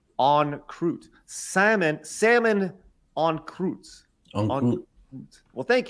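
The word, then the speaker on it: en croûte: Salmon is salmon on wrapped in puff pastry. Okay, pronounced on croûte.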